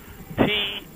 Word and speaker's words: Taddy: And when I say Taddy, it's spelled with a T. T as in Tom. Tadi.